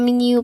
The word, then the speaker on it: menu: And finally, check the menu, please. Check the menu, please. Your turn. Fantastic. There is a longer O sound at the end.